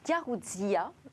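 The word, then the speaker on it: Garoutzia: Qui a hacké Garouzia ? Il faut prononcer Garouz IA d'ailleurs.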